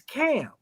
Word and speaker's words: Kham: Because when you talk about Cush, you talking about the seed of Ham, which actually is Cam, is what they call it in the Hebrew. It's spelled Kham, Cam, right?